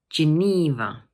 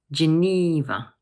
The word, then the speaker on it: Geneva: Geneva. Notice that the middle syllable is a long E sound. So we say Geneva. One more time. Geneva.